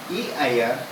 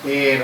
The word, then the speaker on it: heir: of that property, and the legal heir is HEIR, and we don't pronounce it as heir or something, we say heir, legal heir.